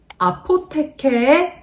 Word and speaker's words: APFR: 아포테케의 24K 로즈라는 향기예요. APFR이라고 읽는 분들도 많으실 거예요.